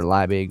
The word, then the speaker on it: Liebig: So if you want to hear any of my songs that I've done personally with me rapping, you can find that under Liebig or Liebig Produced It.